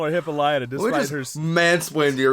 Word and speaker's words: Hippolyta: I prefer to say Hippolyta, but they do say several times it's Hippolyta. They do, yeah.